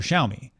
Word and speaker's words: Xiaomi: Hugo Barra was international evangelist for Xiaomi. And someone was trying to correct me the other day about pronunciation, so let me hear it again.